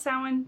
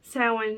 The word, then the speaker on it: Samhain: whole lot about samhain today actually i kind of just want to